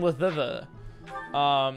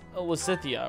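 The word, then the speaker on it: Lysithea: No, I know it's pronounced Lysithia or something similar to that.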